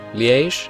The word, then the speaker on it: Liège: Liège, I believe it's pronounced. I'm not sure.